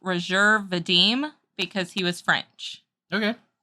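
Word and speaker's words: Roger Vadim: there for you the film was directed by Roger vdm it's actually pronounced rajer Vadim because he was French okay so Roger VM rajer Vadim you get on to me all the time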